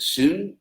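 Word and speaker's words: σύν: The Greeks spelled it S-Y-N and pronounced it sun, some, and we have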